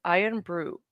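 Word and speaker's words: Irn-Bru: That is how you spell it. You say it as iron brew.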